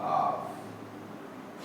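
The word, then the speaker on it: half: Pronounce किया जाता है, जैसे एच ए एल एफ, इसे पढ़ा जाएगा हाफ, इसमें एल साइलेंट है।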